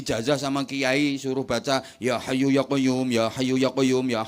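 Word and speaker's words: يا حي يا قيوم: Dikasih ijazah sama kiai suruh baca ya hayyu ya qayyum, ya hayyu ya qayyum, ya hayyu ya qayyum. Keliru bacanya. Yo kayu, yo kayumu.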